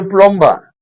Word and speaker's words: plumber: plumber plumber That B is silent when pronouncing, but when you're writing it, you must put the B.